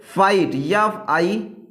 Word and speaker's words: fight: तो इसका एग्जांपल देख लीजिए आप लोग, क्या ये बता रहा है, आई के बाद GST आए, तो इसका एग्जांपल देखिए, जैसे फाइट, FIGHT फाइट, यफ के बाद क्या आ रहा